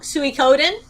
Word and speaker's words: Suikoden: Suikoden. Does 2? anybody actually know how to pronounce that word?